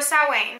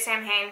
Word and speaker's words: Samhain: this candle next one Samhain or saw Wayne it's pronounced both ways I read it Samhain you can do sow in whatever is more widely